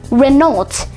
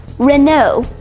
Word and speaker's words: Renault: It's commonly mispronounced Renault, but it's actually pronounced Renault. Yep, Renault. Renault was founded by the three Renault brothers, who were Louis, Marcel, and Fernand Renault.